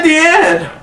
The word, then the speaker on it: Diane: Also, sorry guys if I say Diane and Deanne. I'm trying to say it right, but you know I'm so used to saying Diane because that's how we pronounce it here.